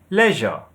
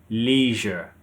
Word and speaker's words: leisure: In British English, we say pasta. Pasta. In American English, they say pasta. Pasta. So with the British, you have the stress on the first syllable.